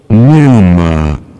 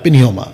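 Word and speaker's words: pneuma: न्यूमा वापस play करो न्यूमा ओकेमा ठीक है पिनमा न्यूमा ठीक है पहला था पिनयोमा अभी है न्यूमा और एक भी साइलेंट है।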